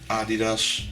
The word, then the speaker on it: Adidas: new kind of expensive it's Adidas that's how you say it in Dutch you can see Adidas